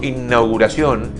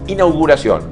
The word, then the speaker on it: inauguración: Las veces que escucho inauguración, no lleva doble N como innecesario. No, es inauguración.